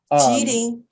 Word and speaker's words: Qílín: Qílín.